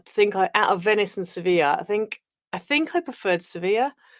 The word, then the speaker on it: Sevilla: But I had a lovely time, and Seville is, oh my goodness, or Sevilla, that's how they pronounce it.